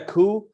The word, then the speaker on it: coup: and as far as calling it a coup which by the way has a silent p at the end i mean i don't